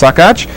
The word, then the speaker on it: Saccoccia: talked about Reno sakach it's spelled sa a cc o CC I a but pronounced sakach in his second season